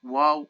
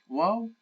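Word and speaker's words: واو: start with our wow wow can be pronounced as a consonant as the letter W we can see our first example the first okay it's just pronounce it here as consonant okay but it can also represent the heavy vowel form of O the heavy fowel form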